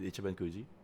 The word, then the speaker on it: Ichiban Kuji: Ichiban Kuji.